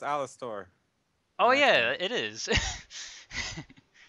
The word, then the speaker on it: Alastor: It's pronounced Alastor.